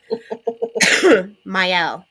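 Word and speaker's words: Mielle: Myel. The m sounds like the word my.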